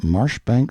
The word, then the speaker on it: Marjoribanks: being the Honourable Kirkcudbright Llanover Marjoribanks Sellers Viscount Berkeley of Cholmondeley Castle, Warwickshire, pronounced Kirkcudbright Llanover Marshbanks Sellers Viscount Berkeley of Cholmondeley Castle, Warwickshire.